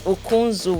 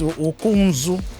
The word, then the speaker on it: Okunzu: Lucky, I hope I'm pronouncing this Ukunzu well. Well, you're not doing badly. It's Okunzu.